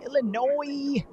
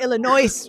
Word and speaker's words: Illinois: yeah i'm coming to illinois really soon that's how you know he's from new york he said he said the s i'm like how am i supposed to know the s is silent leave it off right